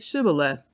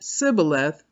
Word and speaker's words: Shibboleth: if he replied no they said all right st. Shibboleth if he said Cybil a--the because he could not pronounce the word correctly they seized him and